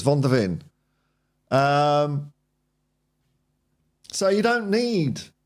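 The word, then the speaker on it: Van de Ven: anyone else said vonin people can't even say his name right I keep on saying it wrong well as well it's Von dein um so you don't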